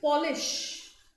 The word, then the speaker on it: Polish: around the wound gold so you have to pronounce it correctly we must polish the Polish Furniture we must polish that is